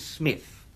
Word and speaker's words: Psmith: My name, perhaps I ought to reveal to you, is Smith. The P is silent.